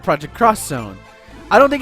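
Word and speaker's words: Project X Zone: project uh cross Zone it looks like project xzone which that's what I pronounced it for the first couple months but it's called project cross Zone I don't think it's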